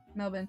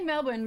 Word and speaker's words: Melbourne: pronunciation of I mean I say Melbourne because I'm pretty sure that's how Belinda said to pronounce it but I mean what's the pronunciation of it you don't really pronounce the r too much right okay I'm using